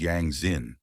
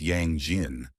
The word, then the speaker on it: Yang Xin: The guy wanted to make fun of the bespectled man and laughed at his name, mispronouncing it as Yang Jin. But his interloctor didn't like it, and he corrected him.